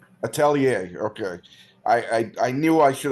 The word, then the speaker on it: Atelier: Tell me the pronunciation. It's Atelier. Atelier.